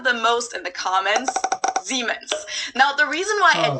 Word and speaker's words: Siemens: a very minor difference germans pronounced it with a voiced s which would be a z in english siemens while english speakers pronounce it with a voiceless s siemens in english that's a